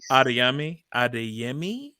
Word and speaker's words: Adeyemi: I forget how to pronounce her last name. Let me look at it again. See if I can get it. Adeyemi, I believe.